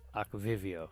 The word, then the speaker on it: Aquivio: it's like aqua and Rio and aquivio combined Aqua Vivio is that how you pronounce it yeah it's so cool act video